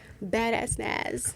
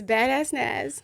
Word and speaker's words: Badass Naz: of all you have to say my name badass naz bad ass nas it's badass naz bad ass nasty you have to say it's